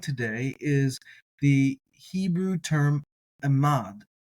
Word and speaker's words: עמד: have in mind today is the Hebrew term Amad a mod and that's spelled a mod and it has the connotation